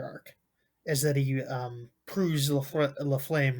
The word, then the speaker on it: LaFlamme: LaFlame, the Flame. That's kind of how it's spelled.